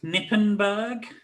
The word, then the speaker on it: Knippenberg: i'm gonna guess this nippenberg oh you got it the silent k the old germanic silent k yep or the